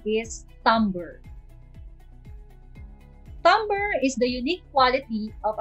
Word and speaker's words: timbre: e how do you pronounce this word others pronounce it as timbre but the right pronunciation is tumblr tumber is the unique quality of a sound or